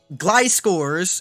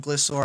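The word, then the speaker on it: Gliscor: virulics and the gliding Glide scores is how you say I've always said glissor I know it's wrong relics in the gliding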